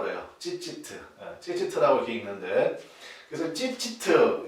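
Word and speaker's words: ציצית: 뭐라고 읽냐면 이걸 찌찌트라고 그래요. 찌찌트라고 이렇게 읽는데, 그래서 찌찌트 이 정도는 여러분 좀 기억을 하시면 좋겠습니다.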